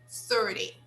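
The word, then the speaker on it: thirty: 15.50 good you see that the second part the second part is not stressed we stress the first part okay in uh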